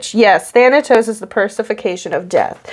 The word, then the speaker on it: Thanatos: yes thanatos is the persification of death okay so that is how it's spell pronounced with the t anyway so he's in